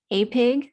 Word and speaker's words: APIG: committee for inviting um apig that's what we're gonna that's how we're gonna pronounce our acronym uh to speak at